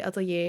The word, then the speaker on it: Atelier: and before you comment this is how we say Atelier in Europe the Netherlands not Italian if you want to say it like that feel free but please don't